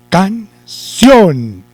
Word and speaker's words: canción: Entonces, corremos corremos el acento para la sílaba sion y decimos, yo canto una canción, canción, ¿cierto?